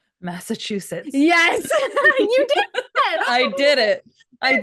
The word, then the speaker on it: Massachusetts: Massachusetts.